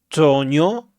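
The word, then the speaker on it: Trogneux: Año 2007 contrae matrimonio con Brigit eh Toño se pronuncia así, profesora de francés que tiene 25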